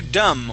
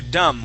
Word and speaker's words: dumb: Okay, so are you dumb or something? Are you dumb or something? Try that, please. Are you dumb or something? Okay, that that B is silent.